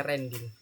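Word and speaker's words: randint: Ren integer Ren in tulisannya gini ya redin rendin bacanya rending random integer ini maksudnya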